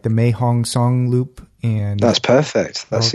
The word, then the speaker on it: Mae Hong Son: I'm gonna probably say it wrong like the mae hong song loop and that's perfect that's exactly alright I